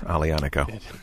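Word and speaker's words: Aglianico: to watch people try to pronounce alianiko yeah i think sometimes it's painful a little bit but yeah to watch to watch yeah yeah right yeah there's a g in there yeah don't pronounce it but there is one in there so you've been here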